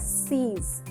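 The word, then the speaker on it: six: 6. S-I-X, the spelling is same as in English, we say it as seas.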